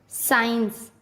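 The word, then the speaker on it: science: Rule, जब एस के बाद सी आता है तब सी का उच्चारण नहीं किया जाता। क्या बोला मैंने? एस के बाद सी आता है तब सी का उच्चारण नहीं किया जाता। जैसे एशेंट, साइंस, सीन, डिसाइपल।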